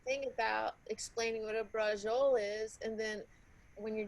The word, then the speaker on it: braciole: Yeah, oh, isn't this some sensational braciole? That's what I'll say. No, that's not how you say it. You know what? Don't say braciole, because when you say it, it hurts my ears.